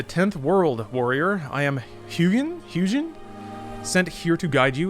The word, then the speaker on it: Hugin: Hugin with a hard G.